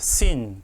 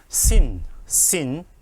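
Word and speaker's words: שׂ: 왼쪽에 있으면 시옷, 그냥 시옷 발음이 납니다. sin. 근데 이걸 어떻게 쓰냐? 자, 이렇게 한번 하고 가운데를 끄시면 됩니다. 이렇게 한번 하고 가운데 선을 끄고 점을 왼쪽에 찍으면 뭐라고요? sin.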